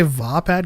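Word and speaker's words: Vaapad: actors say things but he says vapad so whatever I say vapad because the double a is in the first syllable But we often look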